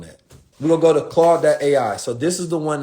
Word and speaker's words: Claude: we're gonna go to claude.ai so this is the one that I think is actually good for right claude.ai is the best Ford so Claude is spelled c-l-a-u-d-e like van clauden claude.ai this is game